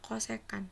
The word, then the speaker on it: kosekan: setan kemudian ini ada cscc itu bacanya kosekan selesaikan cosecan itu kebalikan